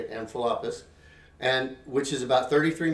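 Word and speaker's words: Amphipolis: passed through envelopus that's how you say it amphilapus and which is about 33 miles down the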